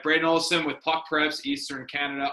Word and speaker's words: Brayden Olafson: this is my buddy Brayden Olafson. That's I'm pronouncing that right? You got her. Yes, sir. All right, Brayden Olafson with Puck Preps, Eastern Canada.